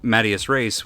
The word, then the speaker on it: in medias res: spelled phonetically, which means I spelled it M-A-D-I-A-S as opposed to M-E-D. It's in medias, like in the middle of things, and I just didn't put that together. So Medias Res was my like online